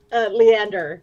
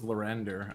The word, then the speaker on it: Leander: Leander is his name. Leander. Okay, I thought it was Lorander.